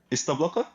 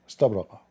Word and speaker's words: استبرق: استبلق? استبرق.